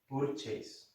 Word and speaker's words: purchase: Purchase, he would say. The U and R sound with this vowel sound. You know this vowel sound. We were studying it last year. Remember, was the long schwa, and they will remember,